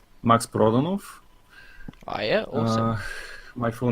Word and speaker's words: Prodanov: yeah yeah yeah yes it's really hard to pronounce because it's a it's a Bulgarian names not meant to be pronounced in any other language it's max proton off is my full name